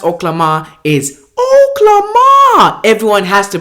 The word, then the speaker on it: Oklama: you pronounce oklahoma is oklahoma everyone has to pronounce it like oklahoma listen that's how you pronounce it mr mars and the